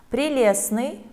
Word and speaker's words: прелестный: Прелестный – проверочное слово «прелесть». И здесь тоже есть непроизносимый согласный «т».